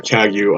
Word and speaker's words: Kagyu: But if you get online and you look up the pronunciation, it will be a hard G. So they will say Karma Kagyu online if you look